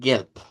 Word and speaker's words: gelb: Luego el Gelb, que es igual. El IPA no va a variar mucho. Es G-E abierta, luego terminamos pronunciando una L y una P. Gelb.